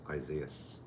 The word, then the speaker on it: Isaias: on the shelves uh pronounce it like isaiah with an s isaias okay except when amy